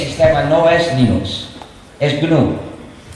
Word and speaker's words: GNU: se puede pronunciar como como si comenzara por ñ pero la pronunciación errónea que no debe usarse Nunca es Linux Porque este sistema no es Linux es gn y en el año